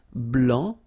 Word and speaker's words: blanc: here okay so here masculine BL don't pronounce the final C and then blanch okay